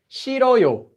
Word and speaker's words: 싫어요: So now we just get 싫어요, 싫어요. Really easy. This consonant deletes itself whenever it would normally go into the empty space.